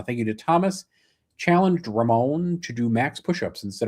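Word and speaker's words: Rhamon: Uh, I'm sorry if I mispronounc. Yeah, Ramon.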